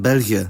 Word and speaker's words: België: The other diacritic is the diaresis or trema, and it's put over a vowel to indicate that it's pronounced individually and not as a multigraph. For example, in creëren in België.